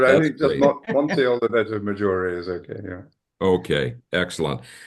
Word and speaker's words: Monte Oliveto Maggiore: If you want to ham it up, say Monte Oliveto Maggiore. A little, But I that's think just great. Monte Oliveto Maggiore is okay.